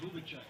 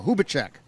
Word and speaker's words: Hubacek: Number 20, Ryan Hubacek. Or Hubacek. Put the accent on the wrong syllable.